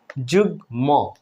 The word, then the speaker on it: যুগ্ম: কেমন করে ভ্যারাইটিস দেখুন যুগ্ম এখানে কিন্তু ম ফলা উচ্চারিত হচ্ছে যুগ্ম উন্মাদ আমরা কিন্তু